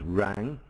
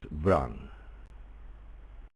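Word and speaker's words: Wrang: Not easy for you to know, Graham, but the W is actually pronounced in his name. So it's not Rang, yeah, it's Vrang.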